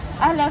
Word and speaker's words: Ahlan wa sahlan: No, it's more fluent. Ahlan wa sahlan. Yes. With a French accent? Yes. So that makes it kind of like... Yes. Cool. Francophone. Yeah, exactly. Ahlan wa sahlan.